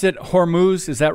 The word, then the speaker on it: Hormuz: up in the days ahead so did you pronounce it Hormuz is that right yes the straight of hus